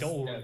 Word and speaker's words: Dolmen: I thought you were the correct on the pronunciation then. First of all, it's Dolmen.